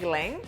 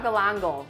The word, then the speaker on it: galangal: And then growing up, I used to always call this galang galang. Galang But galang. that's not how you say it. I know it. Galanga or galangal?